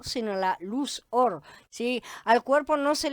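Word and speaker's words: אור: De hecho, las dos se pronuncian igual, justamente, or.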